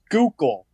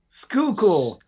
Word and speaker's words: Schuylkill: i'm good and matt you were close it's pronounced skookal skookul this is skulkel yup skuco i think it's